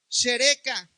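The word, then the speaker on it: שרקה: Y la palabra en hebreo escarnio significa, se pronuncia shereka y se traduce burla.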